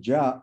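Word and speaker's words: ज्या: So the function sign can be traced to the function ja, jya, it is in Sanskrit pronounced as ja, or koti ja functions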